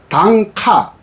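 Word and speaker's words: 短歌: 일본에서 단가라고 하는 것은 일본말로는 발음은 단카, 표기도 단카라고 합니다.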